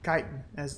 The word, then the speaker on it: chitin: actually pretty silly easy I mean chitin that is how it is pronounced almost to the next